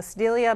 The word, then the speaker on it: Sedalia: Alan in Sedalia, Missouri. Is that the name of your town? Did I pronounce it correctly?